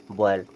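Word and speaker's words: boil: पढ़ेंगे बॉयल क्या पढ़ेंगे बॉयल यहां पर या का साउंड बहुत ही कम होता है जैसे ये क्या कयल तो या या का साउंड बिल्कुल कम रहेगा क्वाइल बॉयल इसे क्या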